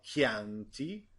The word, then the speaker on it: Chianti: Now, don't forget, with E and E, put an H. So, orchidea, or il vino Chianti, or orchestra. This is how this letter is pronounced most of the time, like the sound in cow.